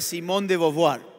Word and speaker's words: Simone de Beauvoir: Simone de Beauvoir se escribe y se pronuncia Simone de Beauvoir.